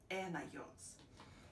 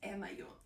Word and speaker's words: anion: Similar way with anion, because the spelling is kind of close to onion, but by pronunciation is different.